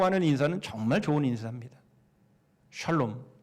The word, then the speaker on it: 샬롬: 살롬 그러면 안 됩니다. 샬롬 해야 돼요.